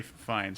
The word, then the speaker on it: Fiennes: uh michael sarah who will play robin okay pronounce rafe finds ray fines yeah we'll get it right okay well it's